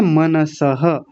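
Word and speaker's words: मनसः: और आगे है मनसह, मनसह नहीं, कुछ लोग बोलते हैं मनसह, मन, न को आधा कर लेते हैं, मनसह नहीं मनसह, मनसह।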